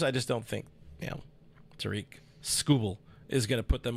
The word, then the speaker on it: Skubal: According to the pronunciation on Baseball Reference, it is Skubal. Skubal do. They don't even have the A in the last when you're hooked on phonics. They don't even have the A in the phonetics. Skuble.